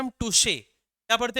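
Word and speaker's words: touché: पहले वाले को हम क्या पढ़ते हैं? टच। दूसरे वाले को हम क्या पढ़ते हैं? टुशे। इसको टच ही मत पढ़ लेना।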